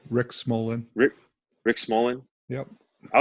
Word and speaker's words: Smolan: Rick let's get into Rick how do you pronounce his last name Smallman Smolin Rick Smolan Rick Rick Smolan yep I was really impressed